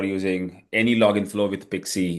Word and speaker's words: PKCE: And you can of course add Pixies, little tiny. We have a separate slide for this, so we'll go to that. So PKCE, it's pronounced as Pixie.